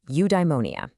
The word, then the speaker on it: eudaimonia: Okay, I've got a new word for you, eudaimonia. It's pronounced you-die-mo-ni-a.